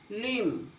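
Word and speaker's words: limb: जब एम के बाद बी आए, जब एम के बाद बी आए, जब भी एम के बाद बी आओगा तो आपका बी साइलेंट होगा। टूम, लिम, थम, देखो इसमें एम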